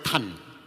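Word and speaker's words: 贪: Bacanya tan kalau Mandarin. Kalau bahasa daerahnya tam jadi M belakangnya. Kalau bahasa Mandarin pakai N. Tan.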